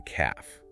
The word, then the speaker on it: calf: And the back of the lower leg is the calf. She hopefully pointed out this is also the word for a baby cow. And the L is silent.